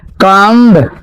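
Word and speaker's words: comb: कम कम बोलते हैं। आप लोग को सिखाए थे ना उच्चारण में। अगर अगर बी से पहले वी से पहले क्या आए? एम आए। तो बी को नहीं पढ़ते हैं।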